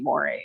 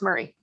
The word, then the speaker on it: Moray: And so it looks like it should be moray. And unless you're, you know, the last name that looks like Urquhart is actually pronounced Beckett, you know, it gets just like,